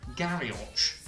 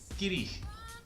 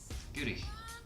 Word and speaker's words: Garioch: Number 4 is Garioch, sort of Garioch, if you like, but in Scottish it's pronounced Girich. Let me just double check that. Girich.